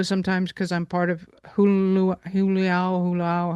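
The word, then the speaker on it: Hailuo: because I'm part of Huluao, however you pronounce it. Howloo.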